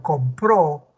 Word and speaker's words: compró: sílaba de una palabra Si vemos compro tiene dos sílabas verdad la com y la pro Cuál es la sílaba tónica es la que va a tener el acento es con pero si dijera que en este verbo por ejemplo compró ya cambió de Ya no está en com sino la el acento